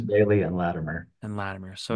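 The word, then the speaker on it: Behle: you say it Parson everybody gets it wrong they say Bill I think but it's Parsons Bailey and ladimir and ladimir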